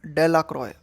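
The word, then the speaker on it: Delacroix: The villagers pronounced this name डेलाक्रॉय। अब यह जो डेलाक्रॉइक्स है, इसे विलेजर्स जो है किस नाम से उच्चारित करते थे? डेलाक्रॉइक्स का उनका प्रोनाउंसिएशन क्या था? डेलाक्रॉय।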